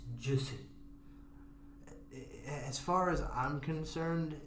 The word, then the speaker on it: Jussie: It's Jussie. As far as I'm concerned, his name is Jackass. Jackass isn't spelled with an S.